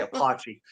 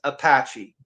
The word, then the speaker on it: Apache: so heated about it I would say apachi she's like that's not how you say it that's how I say it but no but no it's a it's actually pronounced Apache yeah and then you